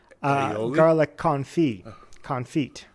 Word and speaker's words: confit: And one thing I liked about this one is it has a garlic confit. Confit, I think is the correct French pronunciation.